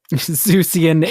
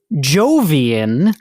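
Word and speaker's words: Jovian: Jupiter such a Zeus uhan zeusian is incorrect Emily I'm pretty sure that is something that comes from the jungle of n yeah and no I'm sorry Emily that's incorrect the correct answer is Jian Jian is that where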